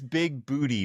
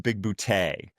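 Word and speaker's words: Bigbooté: he says big booty, but it's pronounced big bootay.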